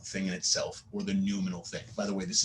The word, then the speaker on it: noumenal: in itself, or the noumenal thing. By the way, this is pronounced noumenal, like new, and all. Not nominal.